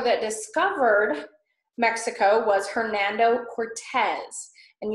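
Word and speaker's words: Cortés: was Hernando Cortes and you see the little accent mark over the E in Cortes so that's why I say Cortes and not courts or Cortes Cortez so that Cortes is how you would say his name okay so I've got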